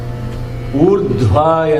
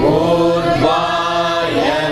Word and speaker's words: ऊर्ध्व: Urdhva, not Urdhva. Meaning is different if you say Urdhva. Urdhva. I know it is difficult for many South Indians to pronounce those dhva, bha, pha like that. But they are important in syllables. If you change those syllables, the meaning is different. So you have to put an effort to pronounce those syllables.